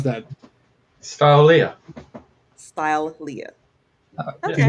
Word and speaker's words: Stylelia: Stylelia. Stylelia. There's Okay. a full like style in the middle.